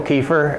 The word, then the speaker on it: Keefer: if you could just state your name and spell it for us geez that's not a no uh kefir uh ke f r great and if you